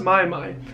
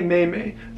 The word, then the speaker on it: Maymay: It's pronounced Maymay, and I say Maymay, so I'm sorry. I do apologize. I always say it wrong.